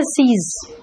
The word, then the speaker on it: seize: अगर मैं सीज का मीनिंग पूछूं तो कहोगे स्टॉप, इसलिए सीज का मीनिंग देखो लिखा स्टॉप, लेकिन सेम प्रोनाउंसिएशन है सीज। लेकिन SEIZE इसका मीनिंग है कन्फिस्केट, यानी कि जब्त करना, है ना।